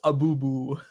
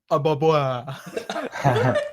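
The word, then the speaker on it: Ababwa: Prince Abubu. It's Ababa. Uh, it's from Aladdin, dude.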